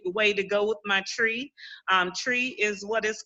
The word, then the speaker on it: Twi: way it's spelled and it's called tree tree okay tree like light like you're saying the word tree okay tree tree like with a whistle mm-hmm almost wow so